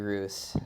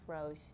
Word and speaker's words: Roos: I accidentally called you Roos. I mean, it's fine with I go by everything. Yeah, but Roos is like how you spell it, but like Rose is normally how you pronounce it.